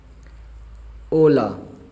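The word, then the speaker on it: hola: ओला एच खामोश है, ओ ला, ओ ला, ओला।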